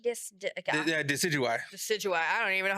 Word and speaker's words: Decidueye: is Rowlet's third evolution, but I don't know how to pronounce it. Decidui? Yeah, Decidueye.